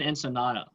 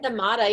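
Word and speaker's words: ensaymada: Tiffany, what's an ensenada? And no, am I saying it wrong? Bread thing, right? Ensamada, yeah, it's like a Filipino pastry.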